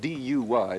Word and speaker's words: Duy: And in the country of Vietnam, they met an extraordinary musician named Pham Duy, spelled D-U-Y, but I'm told it's pronounced Duy.